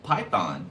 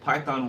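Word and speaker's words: Pithon: So Python. It said Python, but it's spelled P-I-T-H-O-N.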